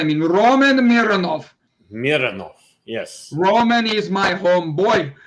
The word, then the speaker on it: Mironov: Do we say it like German? Mironov. Or Russian. Russian, that's what I mean. Roman Mironov. Mironov, yes.